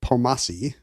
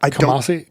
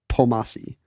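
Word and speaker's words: Kpomassie: His name has a silent K. It starts with a KP. And you don't pronounce it. It's not Kamasi. Kamasi. Like so many great Beetle Bailey comics, it begins with KP. But I don't think you say the K. I think it's just Pomasi.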